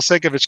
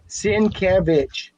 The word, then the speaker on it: Sienkiewicz: Sienkiewicz. Sienkiewicz. Okay, Sienkiewicz. For 20 years, I was pronouncing Sienkiewicz. Sienkiewicz.